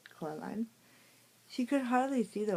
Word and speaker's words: Coraline: They got your name wrong. You know, they keep saying Coraline, not Caroline. Not Caroline at all."